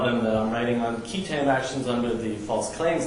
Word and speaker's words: qui tam: I would tell them that I'm writing on key term actions under the False Claims Act.